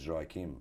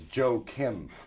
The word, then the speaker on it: Joaquim: joaquin the i tell them it's joy kim and they go oh it's joy crime or his joe kim the thing is that's